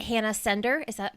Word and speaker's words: Hanna Sender: Is it Hannah Sender? Am I pronouncing it right?